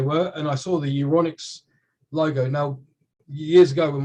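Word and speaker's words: Euronics: to go okay and that's e-u-r-o-n-i-c-x right electronics but uronics uronics there it's in the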